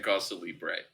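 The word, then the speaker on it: cause célèbre: was funnier when you were saying cause celebre.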